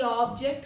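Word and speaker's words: object: ऑब्जेक्ट ऑब्जेक्ट इट इज़ a verb because it has stress on second syllable.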